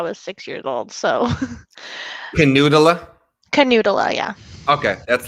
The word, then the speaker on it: Knuutila: have i might be saying her last name wrong uh nutilla hi how are you hi it's a canoodler oh my god talk about getting yeah people